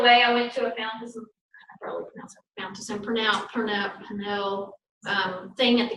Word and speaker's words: Fountas: Typically K-8, I don't think it's Fountain is F-O-U-N-T, Fountain, how do you pronounce it? Fountas.